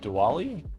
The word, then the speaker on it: Diwali: So day before yesterday was Diwali, Deepavali, depends on where you're at, how they pronounce it, I think, or even how they spell it.